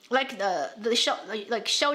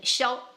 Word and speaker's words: Xiao: In Chinese, we pronounce it as sh.